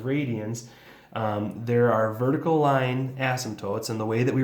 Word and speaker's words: asymptotes: part we have vertical asymptotes all right so asymptotes spell kind of weird there's a silent p kind of um and basically what